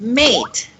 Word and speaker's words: mate: Matt and mate see so the the a takes from ah ah sound it becomes an a sound and then the T and then the e is silent you don't sound that the anymore eight eight eight so